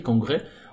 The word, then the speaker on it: congrès: Quand vous le voyez, congrès, on va pas rallonger le « et », congrès. Non, mais c'est congrès, tout simplement.